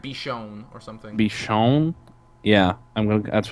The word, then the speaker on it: Bichon: I knew for sure it's not gonna be Baikon, because their pronunciation is not at all like English.